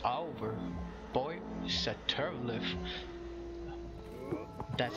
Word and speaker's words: Satharilith: Boy, Satharilith. That's how you pronounce it. Satharilith? Satharilith.